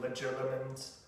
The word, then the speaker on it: legilimens: Voldemort, with his skill of occlumency, with blocking one's mind to prevent penetration, and any skilled legilimens, I think that's how it's supposed to be pronounced, the mind reading skill